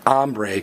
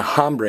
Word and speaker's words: hambre: And one final notice, the H is silent. You don't say hombre and hambre, you say hombre and hambre.